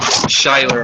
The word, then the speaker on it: Schuyler: Schuyler Arms, yeah, it's SHUYLER, I believe, just like that. Schuyler. Let me double check. SCHUYLER.